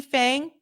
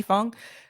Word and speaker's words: Fang: shout out to Lee Fang I think it's pronounced Fong Lee Fung shout out to Lee